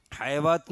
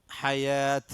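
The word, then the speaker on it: الحياة: ഫഇന്ന ലക, ഫഇന്ന ലക ഫിൽ ഹയാത്ത്, അവിടെ ഹയാത്ത് ഹയവാത്ത് എന്നുണ്ടാവും ഓത, എഴുത്തിലുണ്ടാകുക റസ്മുസ്മാനിൽ അങ്ങനെയാണ്, പക്ഷെ ഓതാന്നുണ്ട് എങ്ങനെയാണ്? ഹയാത്ത്. അതുകൊണ്ട് വാവ് പിന്നെ അവിടെ ഉച്ചാരണമില്ല, അലിഫ് ഉച്ചാരണമുള്ളൂ. വാവിൻ്റെ മുകളിൽ അലിഫ് ഉണ്ടാവും, ചെറിയ അലിഫ്.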